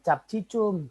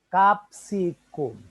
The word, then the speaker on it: capsicum: Oh ya salah ya Bukan capcisum salah Bukan begitu bacanya capsicum Ya jadi nih kuncinya